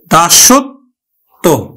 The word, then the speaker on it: দাসত্ব: করি কিন্তু পক্ষ ও আবার দাসত্ব পদের শেষে আছে ব ফালা এইজন্য ব ফালাটা কিন্তু বফালা যুক্ত বর্ণটি অর্থাৎ ত বর্ণটি দুইবার উচ্চারিত হবে আমরা উচ্চারণ করি কিন্তু দা সত দাসত্ব বফালা যুক্ত ব্যঞ্জনটি দুইবার